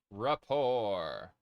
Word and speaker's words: rapport: Rapour. The T is silent.